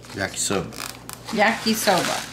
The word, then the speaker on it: yakisoba: Oh, Boss Hog told me how to pronounce that. Oh, what did he say? Yakisoba! Okay. Yakisoba.